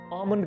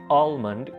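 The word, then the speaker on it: almond: आपको बताता चलूँ कि इसको अक्सर लोग गलत प्रोनाउंस करते हैं और कह देते हैं आलमंड, क्योंकि इसके अंदर एल मौजूद होता है, लेकिन इंग्लिश में इसके लिए एल को बिल्कुल आपने इग्नोर करना है और इसको बोलना है आमंड।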